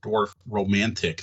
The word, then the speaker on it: Dorfromantik: We decided to try out Dorfromantik. That's DORFO. Whatever. Dorf. It's spelled a little weird.